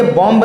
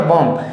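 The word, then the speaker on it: bomb: अब हम लोग अक्सर बोलते हैं इस वर्ड को क्या पढ़ेंगे, बॉम्ब। क्या पढ़ते हैं, बॉम्ब। ये बॉम्ब नहीं होता, ये होता बॉम्ब।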